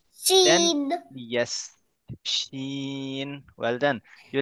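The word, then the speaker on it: ش: First, you have to say it like shh. Right? Then, Sheen.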